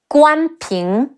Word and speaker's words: Guan Ping: Another two sons of Guan Yu who are historically recorded are Guan Ping, Ge Wu An Guan Pe Ying Ping, Guan Ping, and Guan Xing.